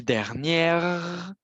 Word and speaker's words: dernière: Si je dis dernière, si je prononce le R, alors ça veut dire qu'il y a un E après le R pour m'indiquer de le prononcer.